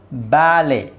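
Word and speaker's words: ballet: okay now ಲೆಟ್ಸ್ ಸಿ ಬ್ಯಾಲೆ ಇಲ್ಲಿ ಟಿ is silent T ನ silent ಮಾಡಬೇಕು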